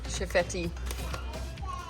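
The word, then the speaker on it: Chefette: Chifetti. It's like KFC.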